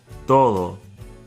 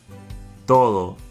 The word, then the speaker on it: todo: Todo. Todo. Both the T and the D are dental consonants pronounced with the tongue behind the front top two teeth. Todo.